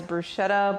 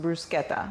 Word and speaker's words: bruschetta: we pronounce it as Bretta but that's not the right way to say it in Italian it's actually pronounced brusketa but I'm going to forget to call it brusketa every single time so